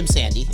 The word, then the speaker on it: Imsande: Anyway, Imsande. Is that how you pronounce the last name?